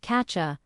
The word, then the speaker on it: catch you: When you shadow it, you'll notice I have got to becomes I've got to catch you sounds like catcha.